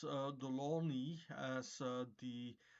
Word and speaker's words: Delaunay: the word uh but the name is Russian and the spelling looks French but since it is